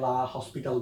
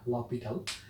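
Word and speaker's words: L'Hôpital: অনেকে এটাকে লা হসপিটাল বলে, একচুয়াল উচ্চারণটা হচ্ছে লপিটাল।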